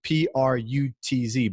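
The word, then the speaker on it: Prütz: It's spelled Cirkus, Circus in Sweden, Pritz, and it's Prutz.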